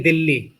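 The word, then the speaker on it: Delhi: बोलने में तो वहां भी दिल्ली बोलेंगे, दिल्ली इंग्लिश में भी साइलेंट रहता है एच वहां पर, लेकिन फिर भी लिखते समय तो लिखेंगे ही उसको एच, दिल्ली ऐसे लिखेंगे, बोलेंगे दिल्ली।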